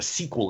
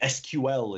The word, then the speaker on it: SQL: a prison spear here's how to do a sequel injection or excuse me SQL injection for those of you who pronounced that way and so we do a